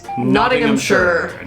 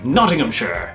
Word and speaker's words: Nottinghamshire: Nottinghamshire. Nottinghamshire. Not in Nottingham. We do say We do. Nottingham. Americans say Nottingham.